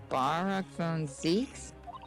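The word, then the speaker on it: Barok van Zieks: Barack von Zeeks? Yep. Is that how you pronounce it? Yeah, you said that right.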